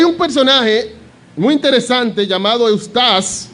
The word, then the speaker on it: Eustace: Hay un personaje muy interesante llamado Eustace. Yo digo así porque así que yo lo pronuncio en mi inglés, porque si no dijera Eustace, que iba a sonar peor.